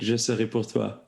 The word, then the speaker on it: Je serai pour toi: I just want to start by asking you, is it Je serai pour toi? Am I pronouncing it correctly? That's very well said. That's exactly it. Je serai pour toi.